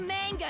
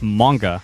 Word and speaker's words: manga: slow this isn't the manga it shouldn't take a whole year for a day to pass hey dummy it's pronounced manga not manga oh man that sounds